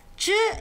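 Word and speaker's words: ㄓ: Some people like to really emphasize the tongue rolling, zhi, chi, shi. Others have more flat tongues, and they say zi, ci, si, which can confuse some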